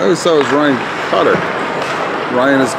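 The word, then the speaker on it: Cuttler: Cutter. If I'm not mistaken. Pretty sure. Look for that L. I think there's a silent L in.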